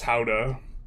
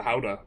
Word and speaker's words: Gouda: How do we pronounce Gouda? I've been told by someone who with a very pretentious and snarky tone that it's how-da. But, uh how-da? That's that's Lord of the Rings, man.